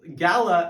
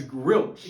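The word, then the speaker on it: Galah: at this bird and mispronounces Gala as grilch. Yeah, it makes sense because the A looks like an R and the L, I guess, looks like an L and an I.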